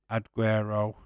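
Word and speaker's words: Aguerd: Here is West Ham's Fabianski, Cafu, Kerger, Olgunboner, Aguero, Aguero. How do you say that? Because it's like Aguero, but with a D on the end.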